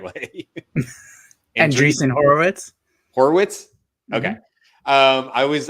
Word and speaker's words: Andreessen Horowitz: Andreessen Horowitz.